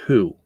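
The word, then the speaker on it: הוא: So, that's pronounced who. It's not pronounced he. It's he in English, but it's who in Hebrew.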